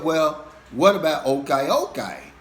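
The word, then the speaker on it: ukay-ukay: said well what about okay okay which is spelled u k a y u k a y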